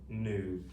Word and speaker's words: knew: So, that makes four letters, 1 2 3 4, and two sounds, mm oo new. So, the k is silent in this two-letter sound here, okay?